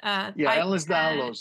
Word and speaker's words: Ehlers-Danlos: between endometriosis and other conditions like I think Ehlers-Danlos, is that how you pronounce it? Ehlers-Danlos, yeah.